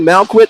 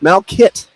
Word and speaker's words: Malcott: I was saying Malquit on the air, but it's Mal Kit.